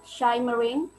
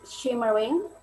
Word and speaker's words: shimmering: then this one is not shy marine but shimmering and this one is